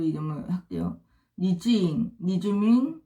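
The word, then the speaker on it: 黎智英: 리즈잉, 그 다음에 천방 안성, 그 다음에 리즈밍, 그 다음에 허진런. 이거는 중국어 발음이고요. 여지영이 라는 사람이 리즈잉입니다.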